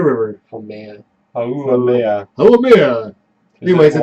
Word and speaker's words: Haumea: So there is a dwarf planet in our solar system called Pronounce it. Haumea. Haumea River. Oh man. Haumea.